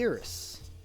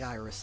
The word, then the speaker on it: Iris: Because it's actually Iris. Not like Iris, the part of the eye.